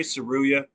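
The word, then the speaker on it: Tsuruya: Oh, Ray Saruya.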